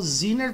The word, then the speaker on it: Zener: Diodo Zener, eles pronunciam como Zener Diode. Zener Diode. Porque em muitas palavras a letra E deles vira I.